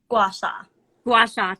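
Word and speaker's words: gua sha: it i want to pronounce this directly her gowasha is that right washa washa thank you i'm terrible pronunciation for more than 50 years what does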